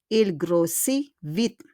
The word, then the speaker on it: grossit: Il y a un T, there's a T, but we don't pronounce the T. Il grossit vite.